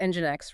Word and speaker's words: Nginx: Pronounced Nginx, right?